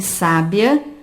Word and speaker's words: sábia: É o caso de sabia, sábia, sabiá. Sabiá apresenta a última sílaba tônica, portanto, nós chamamos de palavra oxítona. Sabia e sábia apresentam a penúltima sílaba tônica, que nós chamamos de palavra paroxítona.